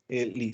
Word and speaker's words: Liz: Pronunciei corretamente? Liz.